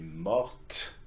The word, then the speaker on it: morte: If it was feminine, elle est morte. Okay, you add an E and that makes you pronounce the consonant before it, yes? Elle est morte, il est mort.